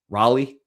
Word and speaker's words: Raleigh: Raleigh, how do you say it?